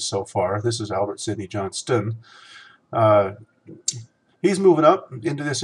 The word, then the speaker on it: Albert Sidney Johnston: albert sidney johnston i'm sorry i have been mispronouncing these names so far this is albert sidney johnston he's moving up into this area roller Jefferson